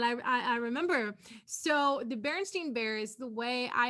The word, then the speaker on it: Berenstain: it is in fact the berenstain bears so it is spelled b-e-r-e-n-s-t-a-i-n and apparently it has always been that way the writers of the